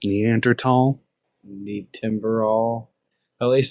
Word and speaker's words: Neanderthal: and earth all um it's pronounced Neanderthal need timber all at